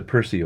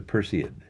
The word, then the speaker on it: Perseid: like August 2nd maybe it's not the Percy way that doesn't rhyme with hemorrhoid it's the Perseid Larry the hemorrhoid show